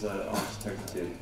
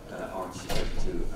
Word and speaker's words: AArch32: So I think we should call it Arch, as in aardvark, to get around Mark's pronunciation problems. So what is Arch32?